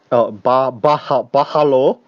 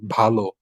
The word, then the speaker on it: ভালো: It's like BH. Bahalo. But you don't say bahalo, you just pronounce the B, like you emphasize the B, like bhalo.